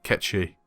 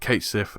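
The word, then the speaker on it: Cait Sith: shallow though i hate ketchy and yes it's pronounced ketchy it's a reference to a gaelic fairy don't worry i was pronouncing it kate siff until i learned this too his sacrifice is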